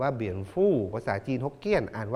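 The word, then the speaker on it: 蝙蝠: ว่า ค้างคาว นะ ครับ ภาษา จีน กลาง นะ ครับ อ่าน ว่า เบียน ฟู่ ภาษา จีน ฮกเกี้ยน อ่าน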